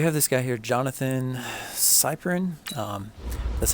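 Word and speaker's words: Cyprien: Okay, so we have this guy here, Jonathan Cyprin. That's how you pronounce the name.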